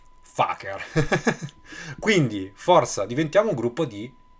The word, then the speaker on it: FKR: nasce in questo momento l'acronimo fkr e si pronuncia esattamente come pensate Faaker quindi forza diventiamo gruppo